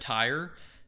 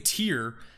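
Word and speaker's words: Tyre: Tear tire. I've been saying the wrong one. Mediterranean, the city of tire. I've been saying tier for months while researching this and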